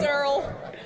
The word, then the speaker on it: Daryl: I think we have a bit of a Merle, pronunciation. baby, it's Merle. It's Merle and Durrell. Get it straight. Daryl.